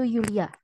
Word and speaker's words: Julia: Kesalahan sedikit pada Aussprache Julia, dibacanya itu Yulia.